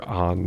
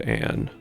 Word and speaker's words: Ann: I do appreciate that they really stick to calling her An instead of Anne, because that ah sound is nowhere to be found as far as I know in Japanese, right?